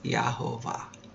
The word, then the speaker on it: Yehovah: And the proper way is Yehovah, Yehovah.